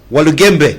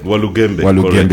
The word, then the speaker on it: Walugembe: Walugembe. Walugembe, yes.